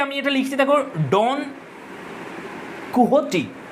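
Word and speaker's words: Quixote: এরপরে আমরা দেখব, আর এই যে আমি এটা লিখছি দেখো, ডন কুহটি, এটার উচ্চারণ হচ্ছে কুহটি, এরকম উচ্চারণ হয়। এটা লেখা দেখে মনে হচ্ছে কুইক জোট, কিন্তু উচ্চারণ হবে কোহটি। তো ডন কোহটি হচ্ছে একটা কমিক ক্যারেক্টারের নাম।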